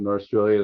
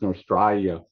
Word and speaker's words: Norstrilia: I already had the Del Rey edition of Norstrilia that I bought back in 1975 when it first came out.